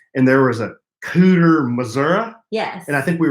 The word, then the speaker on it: Missouri: I'm from Missouri and we say Missouri with a long e I guess some people say Missouri but we judge them well of the podcast